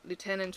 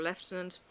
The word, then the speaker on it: lieutenant: They kept calling him lieutenant or lieutenant is the English pronunciation.